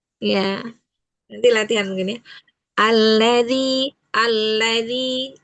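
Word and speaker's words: الذي: Alladzi alladzi ee zinya itu upayakan atau mungkin mungkin terlalu lebar ujung lidahnya. Ee dia hanya bertemu di ujung gigi seri atasnya dua. Dua ujung gigi seri atas. Dzi dzi dzi gitu ya.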